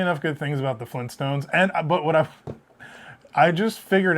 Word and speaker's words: Flintstones: So I can't say enough good things about the Flintstones.